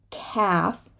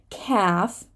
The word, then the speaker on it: calf: night of Camelot so here we have silent l words calf remember calf half right we're not